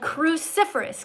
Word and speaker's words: cruciferous: This word is called cruciferous. Can you say it? Cruciferous. Awesome. All right, let's look at the syllables for those of you who have a hard time. Cruciferous. Four syllables.